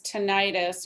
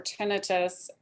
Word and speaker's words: tinnitus: is can allergies cause tinnitus or tinnitus and or hearing loss i've heard it pronounced both ways yes they can allergies